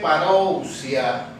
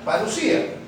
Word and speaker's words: parusía: tiene que ver con una palabra griega que dice parouciar pero que se pronuncia parusía que se pronuncia parusía